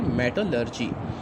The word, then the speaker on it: मेटलर्जी: इसकी प्रोनाउंसिएशन आप नोट करें, मेटलर्जी।